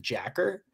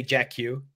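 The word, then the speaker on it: JAKQ: So this is a Super Sentai called, well, I think in Japan they pronounce it Jacker, but I used to say Jack Q, but because that's how it looked.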